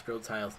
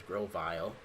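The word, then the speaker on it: Grotle: I gotta be careful when I pronounce Grotile's name, otherwise I pronounce it as Grovile.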